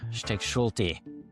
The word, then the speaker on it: Stechschulte: Stechschulte, welcome to Learning Bayesian Statistics. And I think I butchered your name, did I?